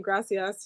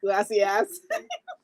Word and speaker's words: gracias: Like instead of saying gracias, she says glassy glacias.